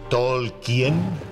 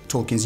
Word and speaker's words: Tolkien: ¿Tolkien? Se pronuncia Tolkien.